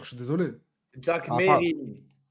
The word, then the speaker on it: Mesrine: Jack Ah, Mérine. Ça l'énerve quand on dit Mesrine, frérot. Pourquoi? Il y a un S.